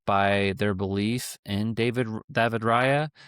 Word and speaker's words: Raya: Like they do have that defensive flexibility and strength backed up by their belief in David Raya. I'll pronounce it in the way that the Spaniards do, but I think that's huge, and I think that does give them a chance.